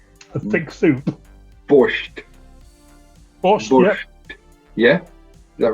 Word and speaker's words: borscht: Borscht. Yeah. Is that right? Correct. That's not a bad pronunciation either.